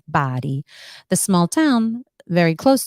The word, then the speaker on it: Bari: beautiful town right outside the city of body it's spelled b-a-r-i so some people may pronounce it as Bari but it's pronounced body the small town very close to the city